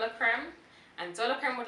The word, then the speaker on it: Creme: Creme is what pronounced. Creme, yeah.